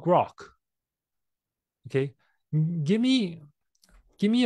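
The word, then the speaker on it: Grok: different than chat GPT and Claude it's called grock okay give me give me a five in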